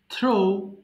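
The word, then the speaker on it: threw: থ্রো, নিক্ষেপ করা, থ্রো, থ্রু, থ্রোন। সো এখানে কিন্তু থ্রিউ হবে না, আমরা ভুল করে থ্রিউ বলি, বাট উচ্চারণটা হবে হচ্ছে থ্রু। আবার বলছি, কোথায় গেল, এই যে থ্রো, নিক্ষেপ করা, থ্রো, থ্রু, থ্রোন।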